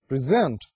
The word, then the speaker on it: present: اگر آپ اس کا stress shift کر دیں from first syllable to second syllable and you pronounce it as present, the stress is on second syllable.